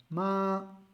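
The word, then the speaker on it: 妈: tenemos acá, o sea, si hacemos ma, eso significa madre.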